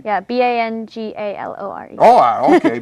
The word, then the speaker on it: Bangalore: It sounds like an easy thing to pronounce, but until you do it's it, exactly the way it's spelled. spelled, yeah, Yeah, Banglear, right? yeah, Bangalore. Oh, okay, Bangalore.